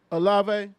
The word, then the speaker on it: Olave: Olave.